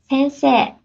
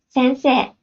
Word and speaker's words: Sensei: Sensei. One more time. Sensei. You don't hear the E sound that much, do you? In Japanese, when AE is lined up, it is often pronounced as E.